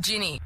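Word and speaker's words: Ginni: It's actually Ginny. G-I-N-N-I. Wait. What is it? How do you spell it? You said Ginny, right? Ginny. It's like the drink. Gin. Ginny. Like gin.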